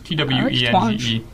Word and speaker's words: Twenge: I'm not sure how it's pronounced. It's Twenge.